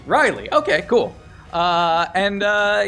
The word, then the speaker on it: Rileah: a cleric named uh how do you pronounce this riley rileya riley riley oh it's spelled r-i-l-e-a-h here on your sheet riley okay cool uh and